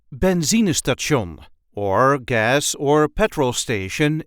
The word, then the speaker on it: benzinestation: a regular Dutch accent benzon or gas or petrol station in English this is the way we say Benz St Ben there is a light emphasis on the second syllable benon Ben benzon I hope